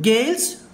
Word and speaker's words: gales: Whenever you find the letter yes at the end of an English word, majority of the times yes must be pronounced like za. Heavy rain gales Famil Chitturu, the Hindu Bureau Chitturu.